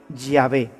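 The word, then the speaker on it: Yahweh: soy el que soy se pronunciaría o se diría ya ve ya ve te envía así es como habría sonado en hebreo antiguo lo que dios le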